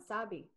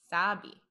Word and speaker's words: Sebi: I think it is pronounced Sebi. It is Sebi? I think so. Sebi. I like it. Slowed it down. Sabi. Yeah. Sabi.